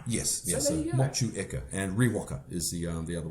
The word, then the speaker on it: Motueka: my time, so it's Motueka. So okay, so the E's pronounced almost on its own. Yes, so yes. So Motueka, and Riwaka is the other one there, and Taiheki.